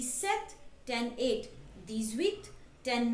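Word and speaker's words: sept: this one five right this one twelve right set okay the special thing with set is the P in set is silent okay this one wait eight right with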